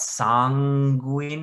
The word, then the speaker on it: sanguine: back and forth about sanguine and sanguine. Ultimately, I decided to keep the sound separate. So a literal N sound followed by a G sound, sanguine.